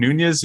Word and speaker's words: Nunes: say about it uh Devin Nunes is that how you say his name nunas yeah he he resigned